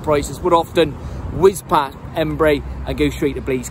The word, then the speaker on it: Henbury: howdy welcome to Embry properly spell e m b u r y to the bristolians to everybody else is spelled h-e-n-b-u-r-y now Embry postcode bs10